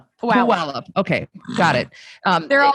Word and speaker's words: Puyallup: Kendra in Puyallup. Puyallup, Washington. So, am I saying it wrong? Puyallup.